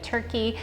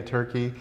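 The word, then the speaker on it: Türkiye: go to Fetti a turkey now I think it's turke now right the turkey the pronunciation has changed so if we if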